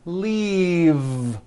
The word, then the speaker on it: leave: glove alive and leave this last word leave is very different from the word leaf like from a tree which has an unvoiced f the word is leave with a voiced V keep the voice in